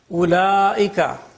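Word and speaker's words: أولئك: Ulaika, the waw is not pronounced.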